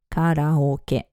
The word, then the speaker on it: karaoke: And yes, it's pronounced karaoke. Kara means empty, and oke is short for orchestra, a Japanese way of saying orchestra.